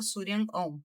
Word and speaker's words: Shuryan OM: É S-H-U fazendo Sul, R-Y-A-N, Surian.